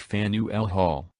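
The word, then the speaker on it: Faneuil Hall: Atlantic coral reef environment Fanueil Hall pronounced fan UL Hall this eminently historic landmark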